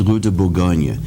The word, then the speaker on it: Rue de Bourgogne: reason for that because in French it's Rue de Bourgogne. The accent's on the Gogne part, so we try to imitate that in English.